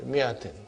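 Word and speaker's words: مائة: In the mi'a, alif is not pronounced. Alif is not pronounced. Okay, mi'atin.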